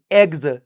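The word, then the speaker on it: eggs: ठीक है, with एग्स, एक्स नहीं एग्स, स्पेलिंग देख लेना, एग्स कुलाड़ी।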